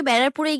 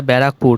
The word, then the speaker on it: ব্যারাকপুর: যেতাম সে আজকে বেড়ারপুরে গিয়ে বিরিয়ানি খেয়েছে বলছি মামনি একটু ভালো করে পড়াশোনা করলে একটু ভালো করে উচ্চারণ করতে সুবিধা হতো এই আরকি ওটা বেড়ারপুর না ওটা ব্যারাকপুর দেখো ওই যে দাদা